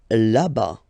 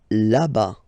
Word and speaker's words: là-bas: Là-bas. Là-bas. Remember final S not pronounced.